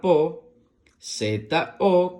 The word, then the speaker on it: pozo: La palabra pozo se escribe con P, O que suena po, Z, O que suena so, po, so, pozo.